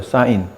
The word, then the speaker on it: sine: 빗변분의 높이라고 써지는 이 부분을 앞으로는 뭐라고 정의할 거냐면, 원래는 SINE, 사인이라고 읽어요. 사인. 근데 세 글자만 떼면 무슨 씬처럼 보이는데 사인의 줄임말이에요.